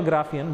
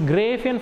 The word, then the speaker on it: Graafian: You can call Graafian, but correct pronunciation is gray Apheian follicle.